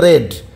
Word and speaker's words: read: Past indefinite টেন্সে যাবো, তাহলে শুধু রেড লিখবো, READ, রেড, এটা উচ্চারণ হবে কিন্তু রেড, তাহলে পাস্ট ইনডিফিনিট টেন্সে গেলাম।